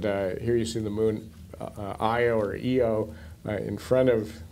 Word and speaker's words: Io: Actually, since I always say EO, IO is the correct pronunciation.